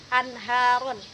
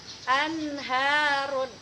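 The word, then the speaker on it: أنهار: Misalnya anharun. Anharun. Tidak kita baca anharun. Anharun, tidak kita baca dengung. Jadi izhar ini artinya jelas, bunyi H setelah nun matinya itu kita baca jelas.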